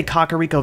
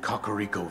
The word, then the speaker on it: Kakariko: Did you just say Kakariko Village? Yes, that is how you pronounce it. In one of the opening cutscenes of Breath of the Wild, King Rome pronounces it like that. Kakariko Village.